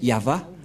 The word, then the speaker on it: Yahvah: Yod, He, Vav, He. C'est l'alphabet hébreu qui est prononcé Yahva.